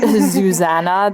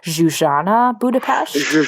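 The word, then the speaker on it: Zsuzsanna Budapest: pronounce her full name I've been calling her zuan this whole time and and you taught me that it's xan budapes Zan yeah like again that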